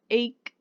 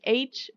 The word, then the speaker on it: ache: the pronunciation headache stomach ache back ache to take okay so we don't say headache stomach h back h or 2 h ok is the sound